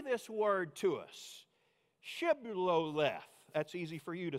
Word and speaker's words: Shibboleth: Shibboleth, that's easy for you to say. If they say without the H, Sibboleth, because the men of Ephraim could not pronounce the word correctly, they seized him, that